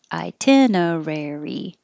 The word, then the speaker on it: itinerary: this one i'm sorry itinerary itinerary its five syllables itinerary second one i